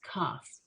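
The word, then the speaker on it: כ: we say about this cuff so um it always sounds like a k it it's curved um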